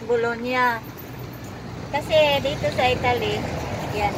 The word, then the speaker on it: Bologna: Bologna pronounce, guys. G at N. Magkasunod, nya, nya. Nako, noong kararating ko lang, hindi ko alam. Di sa Italian, G and N, nya.